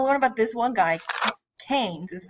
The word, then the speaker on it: Keynes: we're going to learn about this one guy Keynes is how you pronounce his name he believes that if you